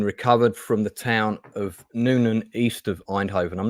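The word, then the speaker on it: Nuenen: and it's been recovered from the town of Nunan east of einhoven I'm not sure if I'm pronouncing that right Nunan yes it is yeah yeah okay um which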